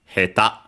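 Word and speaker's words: へた: There's an exception, quite common word, as we can see here, heta, accented on the last syllable, which is we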